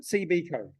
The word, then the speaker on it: CBCo: that's what it is is it CB code that's how they pronounce it okay they had a